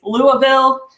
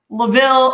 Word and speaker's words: Louisville: derby festival informed me it's louisville laville or louisville in the comments so thanks jeff